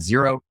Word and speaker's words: Xero: easier with a program called zero it's spelled x eer o and it's definitely my